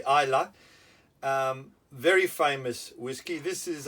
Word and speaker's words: Islay: As I said, from Islay, not Islay, Islay.